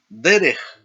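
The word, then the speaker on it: דֶּרֶךְ: Los sustantivos que tienen dos sílabas, donde cae el acento sobre la primera sílaba, se llaman sustantivos segolados, porque no normalmente tienen dos segol.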